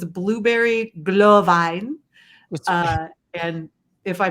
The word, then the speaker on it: Glühwein: No, what you have to do, Deb, is when you're speaking in German, you have to act like you're mad. Glühwein! And then Glühwein. Yes, Glühwein.